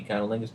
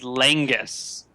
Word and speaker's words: Langus: said thinks that Conolingus and Monkey are going to get into some Monkey Conolingus business. I believe you are mispronouncing my name, good sir. My name is Langus.